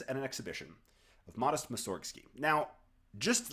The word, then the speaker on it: Mussorgsky: interesting thing is that Mussorgsky, which is the standard practice of pronouncing the name in English-speaking countries, is not actually correct. In Russian, the emphasis should go on the first syllable, Mussorgsky.